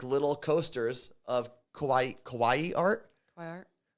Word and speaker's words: kawaii: like little coasters of kawaii kawaii art kaai art no I think it's Kawaii kaai I think that's I think I've been pronouncing it wrong my whole life um so